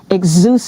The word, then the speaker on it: Exousia: it is Lucia exuse see I knew okay exuse do you see a dance dance and fitness